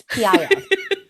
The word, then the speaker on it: PiS: And that's called the peace party? Yes, PIS. Oh, okay. So not peace as in give peace a chance, but well, it's spelled the same way. Almost. PIS, but yeah.